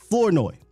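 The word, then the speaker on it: Flournoy: of a shocker that was wide receiver Ryan floi that's how you say his name now when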